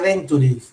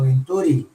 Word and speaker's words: Venturi: No se dice Venturi, sino Venturi. Venturi es el nombre del físico que describió el fenómeno.